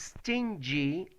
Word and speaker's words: stingy: stingy and stinky because stinky is you know okay something that is not good it smells bad and stingy is the correct pronunciation for this stingy okay so you have